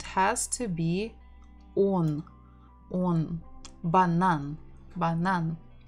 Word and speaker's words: банан: We're stressing the final syllable, banan, banan.